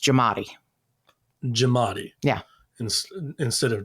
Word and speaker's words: Giamatti: know it's actually pronounced jamat jamat yeah in instead of Gatti it's it's jamat yeah jamat you you leave out the a it's pronounced jamat you know so that's